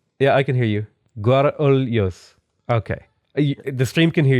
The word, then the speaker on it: Guarulhos: Oh, so there's like different, like there'll be different regional areas. Yeah, accents. Yeah. There's people saying you're from Rio de Janeiro, so they're saying you're going to say it wrong. That's exactly it. So you would say Guarulhos, kind of?